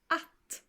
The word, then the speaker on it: att: And that word in Swedish is pronounced like this. Att.